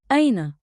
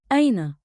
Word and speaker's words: أين: Say it slow. Ayna. One beat like in with a light catch at the start.